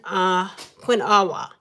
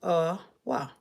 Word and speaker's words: quinoa: Quinn Quinawa. Earl, how would you pronounce this? Quinna. Stop and smile. Trying to help us out. Quinoa. Qua. Qua. Yeah. Quena. Quinoa. Quinoa. Quinoa. Quinoa. Quinoa. Kinoa.